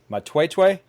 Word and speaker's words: Matwetwe: there and I it correct me if I'm wrong but it's it's pronounced might wait way is that perfect perfect you you're one